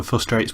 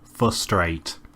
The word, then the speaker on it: frustrate: bounce and Ryan also frustrates me further when he can't pronounce a word for a straight flossed rates you yeah he said it twice in about ten seconds its frustrate not for straight it's very frustrating to